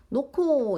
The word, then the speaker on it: 놓고: 놓고 이거는 이제 히읗 뒤에 기역이 와서 이게 지금 얘네 둘이 합쳐져서 놓고라는 키읔으로 바뀌었어.